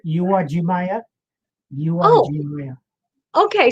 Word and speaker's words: Uwajimaya: correctly it's a correct you are jimaya you are real okay so the u is uh pronounced all this time someone